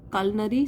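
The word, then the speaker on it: culinary: ईश्वरण की किसके लिए कुलिनरी स्किल अब देखिए यहां पे स्पेलिंग देख लिए सी यू ल आई है लेकिन इसको बोलते हैं कलनारी मतलब रिलेटेड तू कुकिंग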